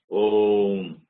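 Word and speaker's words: ॐ: That Om is a long vowel. It should not be pronounced short or too long. It only takes that much of time to pronounce. It must be pronounced only in that, for that time only.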